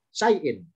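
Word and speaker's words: شيء: Meskipun ada alifnya, bacanya bukan sanya panjang, bukan diseret syai'in, bukan gitu ya. Tetap sama, bacaan dengan di atas sama, syai'in.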